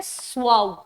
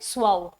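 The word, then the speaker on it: suave: इसको प्रोनाउंस करते हैं स्वाऊ। कैसे? स्वाऊ।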